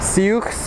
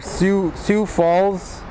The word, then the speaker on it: Sioux Falls: here comes from how do you say it seeks or Sioux Falls crj-900 from Sioux Falls I'm glad I learned